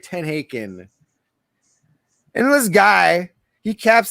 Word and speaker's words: TenHaken: I don't even know how to pronounce his name. Paul Tenkin or something. Tenhaken, I think. Tenhaken, that's right. Tenhaken.